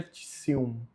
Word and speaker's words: pretium: E aqui no pretium não é pretium. TI mais vogal U, então fica tissium. Tissio.